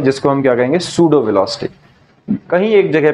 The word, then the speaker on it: pseudo: एक वेलोसिटी आती है जिसको हम क्या कहेंगे सूडो वेलोसिटी कहीं एक जगह पे हम यूज भी